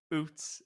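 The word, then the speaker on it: Ouzts: So, Robbie OTOS is pronounced like Boots. It rhymes with Yeah. Boots without the B, which I think is a delightful name for a fullback.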